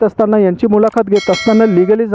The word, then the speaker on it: Legalese: तो लीगलीज़ एक्चुअली जो वर्ड है उसकी स्पेलिंग है LEGALESE. उस शब्द का मतलब होता है वो वर्ड्स जिनका लॉ के साथ एसोसिएशन है, लेकिन उसमें वर्ड प्ले करके उन्होंने EASE कर दिया, ईज़, यानी कि ईजी कर देना.